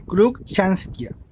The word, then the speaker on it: Cruckshanksia: El género es un poco difícil de pronunciar, pero se dice Cruikshankia.